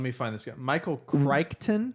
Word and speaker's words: Crichton: Michael Crichton. Crichton. Or Crichton, but he's got a Crichton? So That's the close. Whatever. Michael Crichton, but I think the CH is silent in the middle of his name according to the pronunciation guide on Wikipedia.